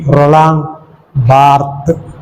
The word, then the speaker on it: Barthes: Next we come to another intellectual giant of France, Roland Barthes, pronounced as only Roland Barthes, ES is silent.